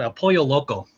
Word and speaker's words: El Pollo Loco: he's the only like he's the only white boy who knows two l's is a y in spanish you know it's embarrassing by